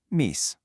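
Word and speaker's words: միս: For any kind of meat dish, the word you're looking for is mis, pronounced mis. Simple, short, and to the point.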